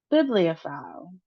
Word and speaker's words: bibliophile: bibliophile So, we see that we have a short I here, so bi we have a long E here, E blei and then we have a long I here, phile. So, let's put it together. The emphasis is on the first syllable as well as toward the end of the word.